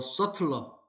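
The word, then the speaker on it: subtler: product 리뷰였어요 제품 후기죠 심지어 더 써틀러 더 예민한 규 여기서 셔틀 서브틀이 아니고 빗자 발음이 안돼요먼트 환경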